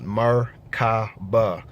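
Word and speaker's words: Merkaba: these terms are but when you break down the word macabre you get three syllables mer-ka-ba so murder um that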